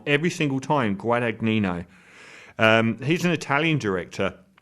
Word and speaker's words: Guadagnino: now they remade that very recently by luca guadagno guadagnino i always say his name wrong guadagnino every single time i i put his film